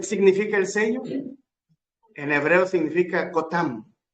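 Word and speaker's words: חותם: el sello en significa cotam se escribe cotam K o t a m cotam el sello significa su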